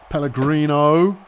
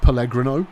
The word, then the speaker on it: Pellegrino: Pellegrino. I think you'll find it's pronounced Pelgro. Oh, okay.